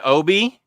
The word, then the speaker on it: obi: slip it's called and I assume you pronounce it OB I thought it was when you buy an album that thing that paper slip pronounce phonetically OB pronounce I learned something new today thank you if I buy an album that has this on it that's an Obie apparently I kept I